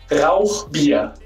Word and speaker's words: Rauchbier: Hey Martin, it's pronounced Rauchbier.